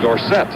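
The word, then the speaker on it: Dorsett: Recently Tony says we should pronounce his name Dorset. However, too many people know it the other way.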